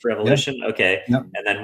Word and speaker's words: rEvolution: pronounced revolution?